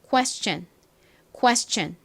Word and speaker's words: question: 그리고 S는 스 소리가 나고 원래 TION은 션 소리가 나는데 앞에 S가 쓰이면 어떻게 발음이 된다고요? 전 이렇게 발음이 됩니다. 그래서 이 단어는 question 이렇게 소리가 나요.